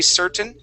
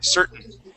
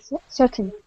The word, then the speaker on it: certain: at all okay um in most cases though we do say certain okay where we don't pronounce that t okay that t would then be silent certain certain okay let's let's